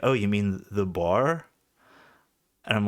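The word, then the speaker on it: Boer: farmer, kill the, uh, the bar, I think it's pronounced. It's B O E. And I heard a, uh, a South African I know who like sounds more Africans, like he speaks with like an accent and sounds German. He pronounced it like bar or something like it almost sound like bear, like or a bear,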